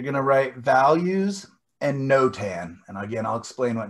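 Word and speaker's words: notan: smaller size you're going to write values and no tan and again i'll explain what no tan is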